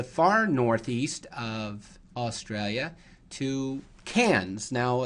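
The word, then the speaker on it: Cairns: Northeast of Australia to cans now it's spelled c AI NS but it's pronounced cans cans is located near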